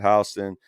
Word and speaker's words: Houston: There, deep south they pronounce that Houston.